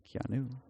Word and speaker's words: Keanu: There's no O in his name. Keanu.